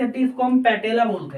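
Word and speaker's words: patella: सी हड्डी, इसको हम पैटेला बोलते हैं। पटेला लिखते हैं लेकिन पैटेला प्रोनाउंस करते हैं, पटेला मत कह देना इसको, लेकिन पैटेला करके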